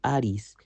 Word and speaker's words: Ares: Su nombre en griego se pronuncia Aris, que significa dios de la guerra.